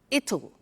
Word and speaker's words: it'll: You notice how it will becomes it'll. It'll. Strange pronunciation, yeah?